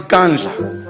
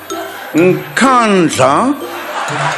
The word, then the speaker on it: Nkandla: Some people who could not pronounce Kandla, they've now learned Nkandla, Nkandla, Nkandla.